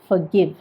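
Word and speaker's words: forgive: ഇത് പറയുന്നത് ഫൊർഗിവ്, ഫൊർഗിവ്. FOR ഉണ്ടെങ്കിലും ഫൊർഗിവ് എന്ന് പറയുന്നില്ല, R സൈലൻറ്റുമാണ്, അതുകൊണ്ട് ഫൊർഗിവ്. അതുപോലെ തന്നെ വേറൊരു വാക്ക്.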